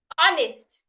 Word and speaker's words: honest: hour another example is honest the H is silent do not pronounce it another example is honor